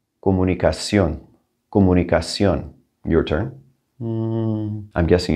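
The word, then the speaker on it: comunicación: it twice recommendation recommendation communication two m's stuck together i don't know why we're going to drop one of them comunicacion comunicacion your turn i'm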